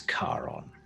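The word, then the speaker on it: Charon: my titles such as ferryman my name is karon last of the fall could you spell that c h a r o n c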